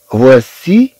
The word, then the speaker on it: voici: ثم عندنا سي إي تنطق سي، voici voici. طبعا عندنا هاد سي تجي من بعد منا إي، إذن غتنطق بحال إس. طبعا غنشوف بأن السي في حالات أخرى أن تنطق ك ك، تنطق كحرف ك. مثلا كلمة ماروك، المغرب. مثلا كلمة ماروك، إذا طبعا هاد السي تنطق ككا في هاد الحالة. أما في الحالة التي عندنا هنا فهي تنطق كأس، لأن جاءت بعد إي، لأن جاءت متبوعة بإي.